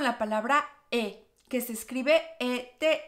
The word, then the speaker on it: et: Vamos a comenzar con la palabra que se escribe ET y significa I. Pero es muy importante que sepas que no debemos pronunciar la T que se encuentra en esta palabra.